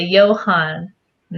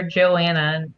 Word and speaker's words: Johanna: Everybody calls her Joanna, and makes her really mad. I don't think I've ever heard that pronounced like that. Yeah, Johanna? it has an H, Oh, wow.